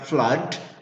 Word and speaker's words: flood: Is it blood? Is it, say, like flood or flood? You're not sure? Well, if you're not sure, always look up your dictionary. Go to the dictionary. It is pronounced Flood. Flood. Flood. it is pronounced Flood. the same as we pronounced the first one.